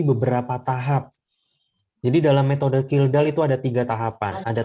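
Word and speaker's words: Kjeldahl: offline menggunakan metode kildall jadi tulisannya kecil dahl Tapi bacanya kildall Ya bukan kjedahl atau apa bukan tapi kilda metode kildall ini termasuk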